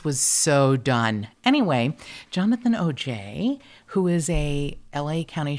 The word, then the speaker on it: Aujay: jonathan oj and it's spelled a-u-j-a-y now i would say oj because i'm fancy but it's actually just pronounced oj like the guy that allegedly